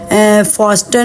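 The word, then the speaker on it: fasten: फास्टन में टी जो है वो साइलेंट है।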